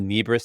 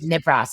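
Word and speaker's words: Nibras: You co-founded Nebris Theater Collective. Nibbras. It was called NARS. Okay. See, messed it up. No one has ever pronounced it correctly. Okay. Because nobody knows that word.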